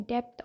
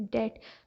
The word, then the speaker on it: debt: एक और word है debt, तो इसके स्पेलिंग्स हैं DEBT, तो लोग कहते हैं डेप्थ और what ever, but the original pronunciation of this word is डेट।